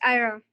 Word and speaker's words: Ira: Yes, am I pronouncing your name right? Yes, it's Ira.